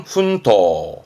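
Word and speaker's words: 奮闘: 발음은 훈토, 훈토.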